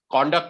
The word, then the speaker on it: conduct: it as a noun so the pronunciation changes the pronunciation is she offered him an apology for her conduct conduct is used when we use it as a verb conduct is used when you use it as a noun okay that's the difference in the pronunciation okay you're welcome she